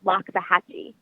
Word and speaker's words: Loxahatchee: but it's not it's actually pronounced called uh pronounced Loxahatchee so yea Loxahatchee Florida is originally where I was from and